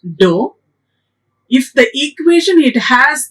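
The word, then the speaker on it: ∂: derivatives the equation if the symbol it is there do we will pronounce it as do if the equation it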